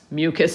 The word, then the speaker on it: mucous: keep the surface moist mucose which we often just pronounce mucus as well but ous that ending is used as an adjective so it's describing the